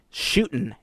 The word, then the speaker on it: Shootin': Due to the success of the Frontier Shootin' Exposition, there's no G, it's an apostrophe, gotta say it right, of the Frontierland Shootin'